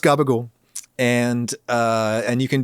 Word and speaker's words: Ragusea: is Adam gabagool um which is spelled r-a-g-u-s-e-a regusia uh but it's pronounced garbage and uh and you